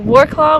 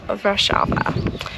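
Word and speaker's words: Wrocław: one is in rashava it is spelled uh war claw when you look at it in English but it's pronounced rashava I'm still learning some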